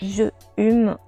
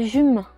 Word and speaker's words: je hume: Troisièmement, on prononce toujours un E lorsqu'il est suivi d'une consonne ou d'un H aspiré. Je hume, mais je ne sens pas l'encens. Et non pas j'hume, comme écrivent certaines.